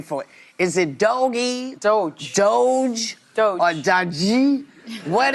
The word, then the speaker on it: DOGE: As far as I understand, this is the pronunciation of it, DOGE.